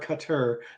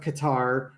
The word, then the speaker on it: Qatar: It's either Qatar or Qatar, but apparently Qatar.